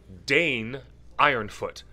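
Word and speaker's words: Dáin Ironfoot: message to his cousin danne ironfoot sometimes it's pronounced da in and he is the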